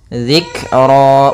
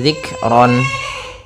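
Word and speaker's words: ذكرا: Dzikra, bukan lagi zikron.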